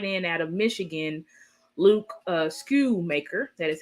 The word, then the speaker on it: Schoonmaker: out of Michigan, Luke Schoonmaker. That is how you say his name, Schoonmaker. The N is silent.